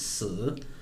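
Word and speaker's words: 死: And actually that sounds very similar to the word for death, which is si. It's actually spelt the same, but it's a different tone.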